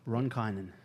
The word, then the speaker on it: Ronkainen: Ronkainen? Is that how you pronounce it? After a year. It's pretty good, actually. Yeah. How do you say it? Ronkainen. Ronkainen.